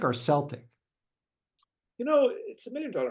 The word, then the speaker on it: Celtic: bring it back—Is it Celtic or Celtic? Paul: It’s a minimum dollar question, and there’s no definitive answer. In sports, it’s often pronounced “Celtic,” like the Glasgow Celtics, but when referring to the people, it’s “Celtic.”